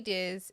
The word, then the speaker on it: Diz: D Diz is. So it's Di, not D.